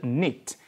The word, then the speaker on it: knit: 이었을까 이렇게 음식이 바르면 get knit k 는 묵음 이 조사 인 어스